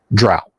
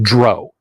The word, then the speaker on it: drow: what can I say I've only ever heard it as drought I've only heard rumors that Gary said dro from a few other people say he eventually just caved and started saying drow and from a lunatic so